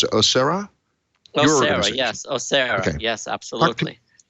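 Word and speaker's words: OSEHRA: want to know what Osera, how do you pronounce it? Osera? Osera, yes.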